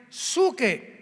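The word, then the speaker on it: ψυχή: Y la palabra almas de hombres es la palabra griega suche, que se pronuncia suke.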